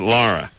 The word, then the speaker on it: Lara: Yeah, Is that like Laura? sort of. But Lara.